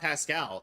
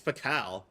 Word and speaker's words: Pakal: I swear, every time I see the name Uncle Pakal, I almost pronounce it Uncle Pascal, but then I'm like, wait a minute, there's no S. It's not Pascal, it's Pakal. So, I've decided to always